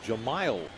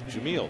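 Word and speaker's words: Jemile: Realized that we have been mispronouncing Weeks' name the first 2 games of the series. His name is Jahmile Weeks. We were referring to him as Jamil.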